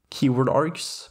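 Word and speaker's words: kwargs: keyword args and that's how it's pronounced by the way the kW stands for keyword works very similarly to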